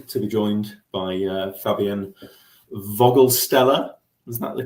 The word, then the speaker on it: Vogelsteller: I am delighted today to be joined by Fabian Voglestellar. Is that the correct pronunciation? Voglestellar. More with an like an F. The V is more like an F, but yes.